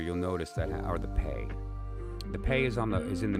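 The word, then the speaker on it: פ: in this case the pay is first, and so it wouldn't. It's also another way to pronounce that is Fe. It's also an F sound, okay? But in this case it's a P.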